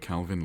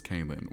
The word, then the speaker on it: Calin: Calvin. That's how I explain how to say my name. Yeah. Calvin without the V. Even though everyone says Kalin. Why? Why would they say Kalin? There's no I.